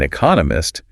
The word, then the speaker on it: economist: Smith is an economist, the emphasis goes on economist because that's the new bit of information. And they even break down how to pronounce economist, 4 syllables, stress on the second one.